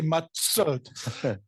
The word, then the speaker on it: matzot: So the dagesh chazak does cause the doubling of the letter. Not that anybody in the world actually pronounces it that way. Right. Well, but we all should at this point forward. From now on, we're going to say matzot.